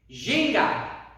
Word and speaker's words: ginga: So everyone say Jin, and everyone say Ga. Jin, Ga. Ginga. Ginga. Yeah, really good.